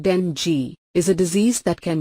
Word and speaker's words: dengue: Dengue, pronounced dengue, is a disease that can be caused by one of 4 related viruses, Ding1, Ding2, Ding3 and Ding4.